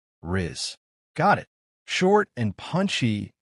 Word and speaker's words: rizz: It rhymes with the word quiz. Rizz. One short, clear syllable. Rizz.